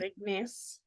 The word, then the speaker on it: igneous: mentioned before, and I'm always like, did I pronounce that right? I even asked Orko, I'm like, it's igneous, right? It is um, igneous.